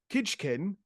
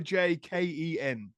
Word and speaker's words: kijken: So, to begin with, I haven't learned how these words are pronounced. I'm guessing. Kitchken, omhug in die Luft.